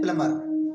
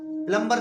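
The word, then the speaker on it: plumber: एम आया हुआ है इसलिए हम बी का उच्चारण नहीं करेंगे तो यह नियम याद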